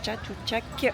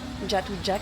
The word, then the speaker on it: Chatuchak: venue au marché de Chatou Chac d'ailleurs je crois pas du tout que ça se prononce comme ça je crois que c'est un J jatou Jack un truc comme ça mais bref la première